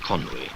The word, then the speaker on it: Conwy: here's the little tiny trickle of the infant Conway coming out of the lake at the start of its career and from now on we're going to give it it's correct to Welsh pronunciation but Conway the first bridge I always feel that there's